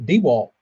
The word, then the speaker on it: DeWalt: be a good purchase North Carolina it's actually pronounced DeWalt I have heard that it's uh in communities